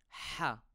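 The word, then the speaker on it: ح: which is ha ha I pronounce this letter as a Double H ha we call it a throat letter because the sound comes from down the throat you won't find this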